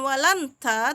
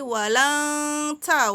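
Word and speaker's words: وَلَنْ تَجِدَ: Ta, bukan wa. Jadi bacanya bukan walanta tapi walang ta, walang ta.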